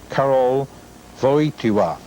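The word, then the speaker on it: Karol Wojtyła: song thank you sir for the correct pronunciation of the Pope's name before while he was a cardinal in Poland Carroll for each WA and I'll hope I'll never have that problem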